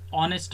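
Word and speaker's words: honest: For example, an ಆ್ಯನ್ ಆನೆಸ್ಟ್ ಮ್ಯಾನ್, ಆ್ಯನ್ ಏರ್. ಇಲ್ಲಿ ವಿದ್ಯಾರ್ಥಿಗಳೇ ಹೆಚ್ಚು ಅಕ್ಷರ ಕಾನ್ಸೋನೆಂಟ್ ಅಕ್ಷರ ಆಗಿದೆ, ಆದರೆ ಅಲ್ಲಿ ಹೆಚ್ಚು ಅಕ್ಷರ ಸೈಲೆಂಟ್ ಆಗುತ್ತೆ ಮತ್ತು ನಾವು ಆನೆಸ್ಟ್, ಏರ್ ಈ ರೀತಿ ವಾವೆಲ್ ಸೌಂಡನ್ನು ಉಚ್ಚಾರಣೆ ಮಾಡೋದ್ರಿಂದ ಇಲ್ಲಿ ಆರ್ಟಿಕಲ್ ಆ್ಯನ್ ಅಂತೇಳಿ ನಾವು ಬರಿಬೇಕಾಗತ್ತೆ.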